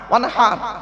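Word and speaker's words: وانحر: ওয়ানহার, এই গলার ভেতর থেকে হেটা উচ্চারণ করবেন, ওয়ানহার।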